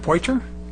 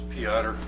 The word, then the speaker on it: Piotr: And we have Ken, is it Poiter? If I mispronounced it, I'm sure you'll correct me. It's Piotr. Piotr?